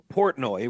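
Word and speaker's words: Portnoy: So, Dave Portoi, right?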